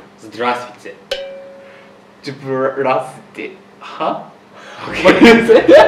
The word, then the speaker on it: Здравствуйте: Okay, so if you do not know them, if you want to be formal, you say Здравствуйте.